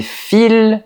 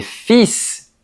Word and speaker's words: fils: Si je dis "Mes fils sont sur la table", je parle de la matière textile, du tissu. Par contre, si je dis "Mes fils sont sur la table", je parle de mes enfants, de mes garçons.